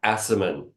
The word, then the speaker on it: Aciman: How do you pronounce his last name? Do you know? It's Aciman.